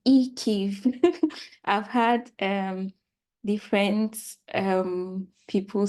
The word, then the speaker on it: IKEIF: So it's pronounced IKEIF.